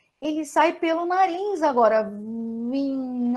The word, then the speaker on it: vim: No caso, o N aqui, ele só me diz o seguinte: esse I vai ser pronunciado de maneira nasalada.